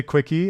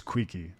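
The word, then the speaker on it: Keele: Some people say Quickie, and that's not just people in the community, that's people in the game.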